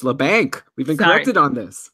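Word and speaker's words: Labanc: way how disappointing was Leblanc in the opportunity I've stopped it's la Banque we've been connected on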